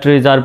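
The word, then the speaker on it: treasure: যেমন হিন্দুইজম বানানে এখানে এসের উচ্চারণ জ্বর মতো হয়েছে। মিজার, ট্রিজার, প্লেজার এই শব্দগুলোতেও দেখা যায় যে SURE আছে শব্দের শেষে এবং তার আগে ভাওয়েল আছে।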